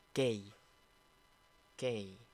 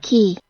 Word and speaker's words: key: Jadi mungkin kalian membacanya dengan bacaan K. K. Oke, ini kurang tepat ya. Yang tepat itu seperti ini. Saya mainkan suaranya. key, Saya ulang. key, key, Saya ulang. key, Key ya. Jadi key di sini yang tepat.